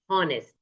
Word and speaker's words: honest: You see in here our and honest, the h remains silent.